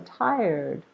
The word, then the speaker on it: tired: Oh, I'm so tired. So tired has 2 syllables, and the rule says to stress the first one.